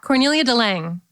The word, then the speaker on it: Cornelia de Lange: Cornelia de Lange? Yeah, Cornelia de Lange.